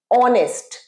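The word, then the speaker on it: honest: নিই অ্যান অনেস্ট ম্যান এইচ দিয়ে শুরু কিন্তু প্রোনাউন্সিয়েশন অয় অনেস্ট তাই জন্য অ্যান বসেছে অ্যান অনেস্ট ম্যান তাহলে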